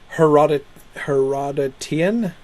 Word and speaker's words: Herodotian: Herodotian? Right, it's just like Herodotus, right?